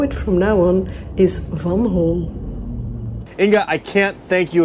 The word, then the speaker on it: Van Hool: you probably all known it by the name van hool but actually that's not correct van hall is